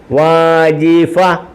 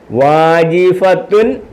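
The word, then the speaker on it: وظيفة: വരുന്ന താിനെതാ താത്തിതു തന്തിന്തുൻ എന്ന് വായിക്കത്തില്ല ഉച്ചരിക്കത്തില്ല പറയത്തില്ല വാജിഫത്തുൻ വാജിഫ കണ്ടോ വാജിഫേ വായിക്കത്തുള്ളൂ വാജിഫ വാജിഫത്തു ഉണ്ട് അങ്ങനെ വായിക്കത്തില്ല വാജിഫ വാജിഫ ഈ താിന് ഉച്ചാരണമില്ല ഹ ആയിട്ട് ഹിന് സുക്കൂ കൊടു അവിടെ നിർത്തും സ്റ്റോപ്പ് ചെയ്യും മനസ്സിലായോ വാജിഫ വാജിഫ വാജിഫ വാജിഫ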